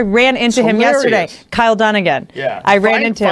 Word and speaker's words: Dunnigan: This is so Kyle Dunning, how do you say his name? Dunnigan.